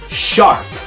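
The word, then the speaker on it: ♯: you read the title you're actually supposed to pronounce the hashtag or the sharp symbol as sharp so the first question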